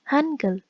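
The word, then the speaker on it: 한글: be written like this it can be written like h a n g u e l or e u okay but the pronunciation is angle this is the romanization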